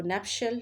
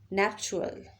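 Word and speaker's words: nuptial: और ये जो स्टैंडर्ड प्रोनाउंसिएशन है उसमें हम नैप्शल यूज़ करते हैं। इसी तरीके से जो नॉन स्टैंडर्ड है उसमें इस्तेमाल किया जाता है नैप्चुअल, नैप्चुअल, नैप्चुअल। जो नैप्चुअल है ये नॉन स्टैंडर्डाइज्ड है, लेकिन जो स्टैंडर्डाइज्ड है वो क्या है?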